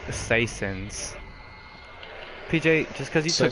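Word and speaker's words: Soissons: The map is pronounced citizens. What? That should have killed him. It's pronounced Saisons. PJ, just because you took French class doesn't mean you know everything. I think it's like Sanson.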